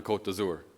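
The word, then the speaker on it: Côte d'Azur: you're driving on the Cote d'azur excuse the pronunciation that's how we say it in English the code yeah the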